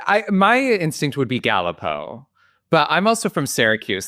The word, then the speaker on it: Galipo: it so today we have with us Eric galipo did I get right you did you got